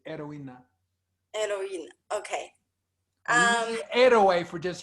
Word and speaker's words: heroína: Heroína, heroine. Oh, okay. Okay. Heroine. Okay. It's spelled H-E-R-O-I-N-A. It's the same word in English and Spanish. Heroína.